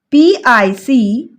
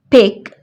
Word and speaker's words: picture: Picture. It's a bit tricky one because tu here sounds like ch. Picture. Tu here sounds like ch. So it's pronounced like picture.